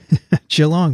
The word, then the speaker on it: Geelong: university of sydney and deacon university in geelong geelong that's that's how you say it geelong will